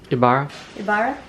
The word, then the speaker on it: Ibarra: one that's i-b-a-r-a i got it you know ibarra we're using the butter chocolate and then we